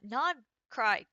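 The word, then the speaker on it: Nod-Krai: Today we're going to be tackling the nod cry uh nod cry quest.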